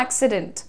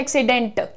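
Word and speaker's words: accident: मैं बोल रही हूं एक्सीडेंट ट ट का साउंड है लेकिन बहुत सारे लोग कहते हैं एक्सीडेंट ट प्रॉपर हार्ड टी पे नहीं लैंड करना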